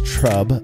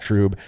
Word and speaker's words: trub: confusion some have about tro is understandable and I'm not saying that because of the mispronunciation of it as trb uh but rather the